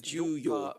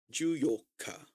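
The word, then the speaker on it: 十四日: So you want to be careful about that because yoka is the 8th. Okay. Oh man, yeah. That's right. The divisible business. Mm-hmm. Okay. So it's Juyoka versus yoka.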